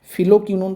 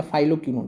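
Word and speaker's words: phylloquinone: Vitamin के जिसको रासायनिक नाम है फिलोकिनोन पढ़िए या फाइलोकिनोन पढ़िए। एक ही बात है। तो फाइलोकिनोन या फिलोकिनोन एक ही चीज है। जैसे आप इसको प्रोनाउंस कीजिए।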